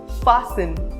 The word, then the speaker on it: fasten: It is not exactly a rule, but there are some words in which the letter T is silent. For example, often, fasten, listen, Christmas, castle.